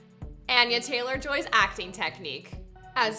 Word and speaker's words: Anya: hates on me in the comments yes it's pronounced annie in america people find it very hard to say my name it's anya they like aneurysm i'm trying to find a